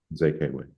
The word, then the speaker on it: Mzekwe: Mzekwe, yes, Mzekwe, thank you. All E's pronounced like A's.